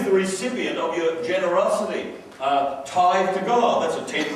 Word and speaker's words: tithe: And I said, what's this tithe? He said, well, it's pronounced tithe and it's a tenth.